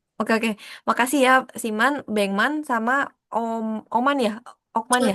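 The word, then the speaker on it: 백만: Terus kayak yang Beckman itu pengucapannya tuh Bengman.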